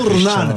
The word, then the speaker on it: Ronaldo: Voilà, Cristiano Ronaldo. Ne prononcez pas le Ronaldo comme vous faites, Sébastien, habituellement. Là.